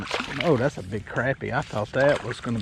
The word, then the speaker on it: crappie: I put up a big poll both on YouTube and Facebook, and it was funny. I think YouTube kind of had more crappie for the pronunciation. Facebook was more crappie, but the overall numbers, crappie won. So I'm saying crappie from now on.